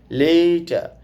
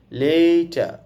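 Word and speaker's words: letter: আমি আরটা বলি নাই কারণ ওযে আছে ইর বা আর এর আগে ভাওয়েল থাকলে বা পরে ভাল থাকলে সময় এই আরটা স্লো করে উচ্চারণ করতে হয়। লেটা আমি এখানে আরটা বলিনি।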